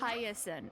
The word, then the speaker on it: Hyacinth: Hyacinth, that's how you say it.